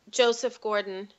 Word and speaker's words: Joseph Gordon-Levitt: I really appreciate Joseph Gordon-Levitt.